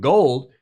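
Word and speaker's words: Gould: kicker for the 49ers spelled ghoul but he pronounces It Go sorry I missed that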